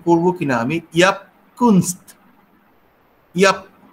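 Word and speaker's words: Jaap Kunst: উচ্চারণ করব কিনা, আমি ইয়াপকুনস্ত, ইয়াপ জে এ পি এরকম উনি লিখেছেন। তো ফলে ওলন্দাজ উচ্চারণ অনুযায়ী এটা আমার কাছে মনে হচ্ছে ইয়াপকুনস্ত।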